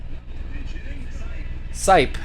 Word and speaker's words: Sipe: Let's see how they pronounce it. Sipe is how they say it.